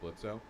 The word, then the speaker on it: Blitzo: The O is silent, you fuck.